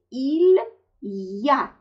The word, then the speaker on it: il y a: Звук «и» оказался рядом с другим гласным звуком. И тогда он, как я говорю, съеживается до звука «е». И получается, что нужно это произносить «илья».